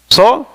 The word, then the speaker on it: Saul: Is that Saul? Is that how it's pronounced? Saul?